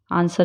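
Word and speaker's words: answer: है ज जैसे कि आंसर आंसर में डब्लू साइलेंट है स्ड सर्ड बोलते हैं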